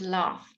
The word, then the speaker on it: laugh: put food whew and laugh so gh sometimes is nothing and sometimes it's laughs it's a sound laugh or laugh or cough alright cough the roof